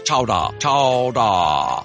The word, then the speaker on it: chowder: england clam chowder today pronounced regionally as chowdah oh that's so fun